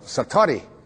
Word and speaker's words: satori: it's called excuse my japanese but it's called satori i'd love to say that s-a-t-o-r-i and it